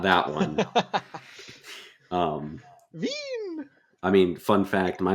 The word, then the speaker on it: Vin: not Vine. well, not that one. Um, Veen.